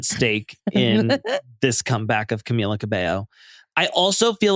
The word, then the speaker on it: Camila Cabello: Everybody pronounces her name differently. Every single person. It's like, it's Camila Cabello.